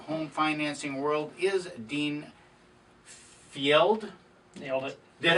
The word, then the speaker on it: Fjeld: on top of home financing world is Dean Fjeld. Nailed it. Did I? Nailed it? Fjeld? No, there you screwed it up. What? Fjeld. Fjeld, that's what I said. Yeah, and then you said Field.